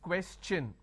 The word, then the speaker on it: question: When I have the word question, the tion becomes ch n. So it becomes question.